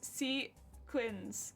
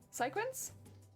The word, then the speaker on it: sequins: puns in the stream i learned how to pronounce sequins heck yeah secure i thought it was c quinn's cycles sequence ah i can kind of see why you'd